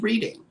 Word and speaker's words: Reading: This is Reading. It's Reading. Reading. The It's way you Reading. pronounce it is Reading without the A. It's like a double D.